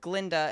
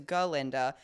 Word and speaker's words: Galinda: We have that moment where she's like, oh, well, the way that Dr. Dillman used to pronounce my name was Glinda instead of what it is, Galinda.